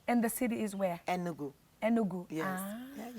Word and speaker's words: Enugu: Enugu.